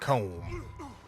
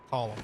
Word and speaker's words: Colm: Comb? Although it's pronounced Column.